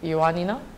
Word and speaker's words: Ioannina: Ioannina, I said it right?